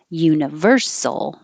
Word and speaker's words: universal: y position universe universal the stress moves to the second to last syllable if a syllable ends with i mean if a word ends with the suffix al it's usually the syllable before that's going to be stressed universal author the th